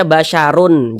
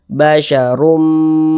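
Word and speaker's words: بشر: dimasukkan ke huruf mim kita baca basyarum Jangan dibaca basyarun jangan tapi dibaca basyarum seperti itu kemudian dia diunahkan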